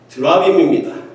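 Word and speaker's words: תְּרָפִים: 단어로 기록된 것이 아니라 테라핌이라는 단어로 사용되어 있습니다. 이것은 한국식 발음으로 읽으면 드라빔입니다.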